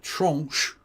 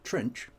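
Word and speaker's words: tranche: Then comes yet another uh trunch to use the French pronunciation or trench of uh of um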